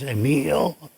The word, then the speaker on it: Emil: It depends on what country you're in. If it's French, it's Emile. If it's German, it's Emil.